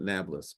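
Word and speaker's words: Nablus: called it Anapolis and the Arabs cannot pronounce a p so they called it nablas but Anapolis was a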